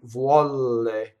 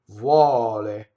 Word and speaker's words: vuole: So there's one L. I hear all the time, vuɔle. Wrong. Vuɔle. One L.